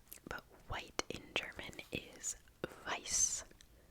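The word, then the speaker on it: weiß: white in German is vice vice vice um W's in German are pronounced more like V's in English um and this funky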